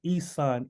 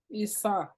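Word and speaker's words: Esan: No, she says Isan, E-S-A-N. Isan. Auntie Ama, you can unmute yourself and ask the question if I'm saying it wrong.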